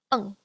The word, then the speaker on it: eng: ENG is just like n, but with a ng sound at the end instead of n. So instead we have ung, like this.